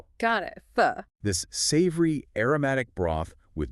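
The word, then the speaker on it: phở: We have to start with fo. Essential. And we must stress this for everyone listening. The correct pronunciation is fo, not fo. Got it. Fu.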